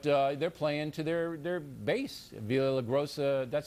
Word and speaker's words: Villaraigosa: Villa La Grossa, that's how you say his name, right? Villa La Grossa? Villaraigosa.